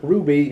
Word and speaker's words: RWBY: we'll describe real quick the name of the show is Ruby but it's spelled RWBY now RWBY stand for